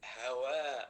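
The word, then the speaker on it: حواء: Ha is when we pronounce it from the throat. So ha, like hajj, like hawa. So hawa is Eve, Hawa, Adam and Hawa. It is with ha, Mr. Sultan.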